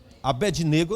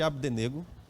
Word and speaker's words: Abdênego: Ele louvou ao Senhor porque esses 3 jovens, chamados Sadraque, Mesaque e Abdênego, o Abednego, eu não gosto de Abednego, eu gosto de Abdenego. É a pronúncia minha, tá bom?